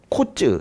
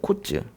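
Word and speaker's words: קוץ: 코츠 이래요. 코츠.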